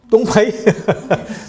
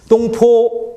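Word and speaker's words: 東坡: 동파를 중국어 발음하면 어떻게 됩니까? 똥파이? 똥파이는 아니고 똥포 이렇게 됩니다.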